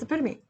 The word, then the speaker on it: epitome: example of particular quality or type epitome that's epitome yeah I think the is pronunciation not different word yeah it's PRC op